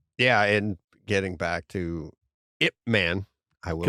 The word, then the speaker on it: Ip Man: Yeah, Ip Man is how they say it.